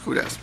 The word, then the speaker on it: WHODAS: The HUDAS, how do you pronounce that? HUDAS. I was right.